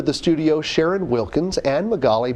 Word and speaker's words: Magaly: On today's show, we welcome to the studio Sharon Wilkins and Magali from the Haiti mission trip. Did I pronounce it right, Magali? Yes.